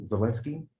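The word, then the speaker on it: Zelensky: you say how do you say his name zielinski that's how you say it yeah um he's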